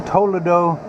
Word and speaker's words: Toledo: So there's Toledo, Ohio, and as they pronounce it in Spain, Toledo, España.